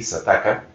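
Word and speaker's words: Xataka: Y hay otro artículo en Sataka, que se escribe con X, creo que ellos lo pronuncian así, Sataka.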